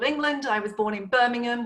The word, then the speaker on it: Birmingham: I was born in Birmingham, which has no ham in the pronunciation.